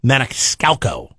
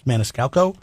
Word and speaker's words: Maniscalco: some tickets to sebastian manixcalco i said that right right it's maniscalco i don't know what